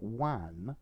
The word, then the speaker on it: WAN: see a wide area network one notice the different pronunciation is um a network